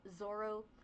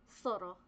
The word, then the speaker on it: Zorro: Like everyone everyone says my name as Zoro. So I like I say it that way because everyone else reads it that way. But it's soro truly it's it's actually